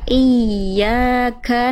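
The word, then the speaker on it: إِيَّاكَ: Iya, tapi dia bertasydid itu teman-teman sekalian, dia ada cara baca namanya naber. Naber itu dia ditekan makhrajnya lebih kuat sehingga nadanya lebih tinggi. Jadi bukan dibaca cuman iya, tapi tekan makhraj ya-nya di mana tengah lidah ke atas.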